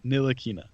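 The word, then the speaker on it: Ntilikina: t oh whatever Nina the t is silent nilina why is it there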